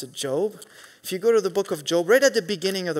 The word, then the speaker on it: Job: It's written the same way as Job, but we pronounce it Job.